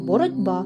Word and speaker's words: боротьба: шляхом одзвінчення чи оглушення наприклад слово боротьба ми пишемо з літерою Т від слова боротися а вимовляємо й чуємо боротьба бо глухий ті уподібнився під впливом наступного дзвінку кого б до дь так би мовити отзвінчився а слово безпека яке